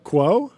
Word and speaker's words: Quo: Quo. Quo. Quo. Yeah, like status quo.